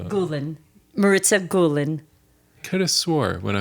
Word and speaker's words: Maritza Gulin: embarrassing question sure do do I say your name wrong how do you say my name Marissa G gulan Marissa gulan could have swore when I was talking to